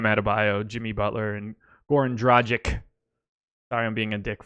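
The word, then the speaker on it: Dragić: Goren because I don't think about it and I it up every time so Dragic Dragic Dragic itch it's an itch right pitch relation Serbian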